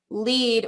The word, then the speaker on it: LEAD: buttons say they're going the lead which this is a long e sound it's an acronym so i don't know if there's some way we can put like a long dash over the e the lead corporate training